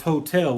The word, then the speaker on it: wholetail: So the reason that term is hotel, which sounds like a hotel that you stay at, but it's not that. It's spelled just like wholesale, but it's whole with a tail, T-A-I-L.